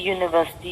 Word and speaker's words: university: Please don't look at the first alphabet of any word. Just pronounce the word and see. European, sound of year is coming. University, again sound of year is coming. Year is not a vowel sound, it's your consonant.